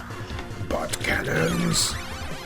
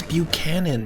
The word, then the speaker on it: Buchanan: a nuisance to him but cannons i told you it's buchanan you're pronouncing it wrong what can okay so